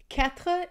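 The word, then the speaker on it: quatre: sound for is katpa katpa is actually kind of like saying cat with like a hook at the end so cat poop v is sank I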